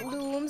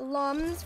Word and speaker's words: Lums: land starts to dissolve Lums looms pronounced looms like illumination not and not Lums for dumb are beings of pure